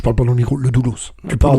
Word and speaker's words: Le Doulos: Pardon, je parle pas dans le micro, le Doulos. Tu Pardon. prononces le S, c'est pas grave.